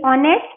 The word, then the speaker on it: honest: SINDBAD Sinbad, VOYAGES voyages, HONEST ऑनेस्ट, H यहाँ पे silent है, ऑनेस्ट रीड करेंगे हम.